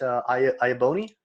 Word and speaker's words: Iaboni: me get that one wrong but is it i abou me correct all right awesome good to know all